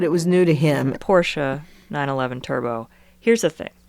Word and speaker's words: Porsche: Bought himself that Porsche. Jillionaire and I were beside ourselves. Really? That's not how it's pronounced. It's Porsche. It's a German word.